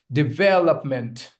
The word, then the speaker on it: development: Here, this is one of my favorite words because most of the people mispronounce it. Okay. It's development.